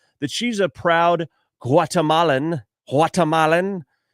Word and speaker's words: Guatemalan: Guatemalan. You don't pronounce the G like guacamole.